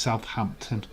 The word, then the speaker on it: Southampton: been out southampton it's southampton southampton we just pronounced it all in one word maine says edward alaska